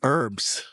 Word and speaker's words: herbs: The H is silent in herbs.